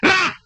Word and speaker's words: Ra: Egyptian sun god. One syllable yan. Ra!